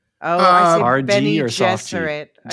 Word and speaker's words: Bene Gesserit: I guess I guess one more is it Bene Gesserit or Gesserit? Oh, I see. Bene Gesserit.